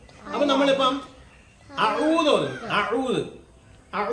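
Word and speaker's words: أعوذ: മലയാളത്തിലെ 'ആ' പോലെയല്ല ഇത് പറയുന്നത്. അല്ല , ഇതെന്താണ് കത്ത്? എ. ഇതല്ല, ഈ ഉച്ചാരണം ശരിയല്ല, പിന്നെ എങ്ങനെയായിരിക്കണം? എ. ആ എ. ആ എ. അപ്പോൾ നമ്മൾ "ആഊദു" എന്ന് പറയുമ്പോൾ എന്താണ് ചെയ്തത് ?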